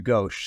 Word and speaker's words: Ghose: Yeah, the last name is, it's pronounced Ghose, so there's no way that you were ever going to get it because there's no H at the end, but it's certainly pronounced with an H.